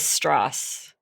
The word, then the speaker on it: Strauss: down which is Louis straws yes so what is their history and why does Louis Strauss have such a dislike for Oppenheimer well Lewis liked to pronounce his last name as straws oh sorry straws it